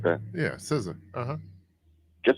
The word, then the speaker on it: SZA: It's spelled SZA. I want to say SZA or something like that. Yeah, SZA.